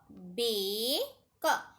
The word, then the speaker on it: bake: तो यहाँ पे वर्बल 1 का जो नेम है वो रीड करेंगे और सेकंड वर्बल जो है वो क्या होगा, साइलेंट होगा, चुपचाप होगा, कुछ नहीं बोलेगा वो।